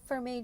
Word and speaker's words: vermeil: of jewelry is a vermeil or not. Question here, what is vermeil? Vermeil (pronounced vehr-may) is a legally regulated term that refers to a certain kind of quality jewelry.